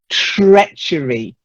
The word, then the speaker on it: treachery: Then treachery. Try it. Treachery. That's it. Yes, to be a traitor is to be treacherous and to show treachery. It's not treasure like. No, not like treasure. Treasure is treasure.